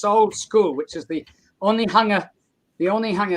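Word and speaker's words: Onehunga: classroom in this old school which is the only hunger the only hunger it's very funny it's pronounced only hunger but people coming into new zealand say that looks like one hanger one hanger like a clothes hanger yeah o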